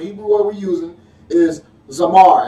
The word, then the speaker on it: zamar: The word for prune, the Hebrew word we're using is zamar. It's spelled Z-A-M-A-R.